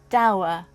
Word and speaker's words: Douwe: Anyway, I looked it up, and I'm going to say Douwe, as in... So it's actually like Douwe Egberts, the coffee.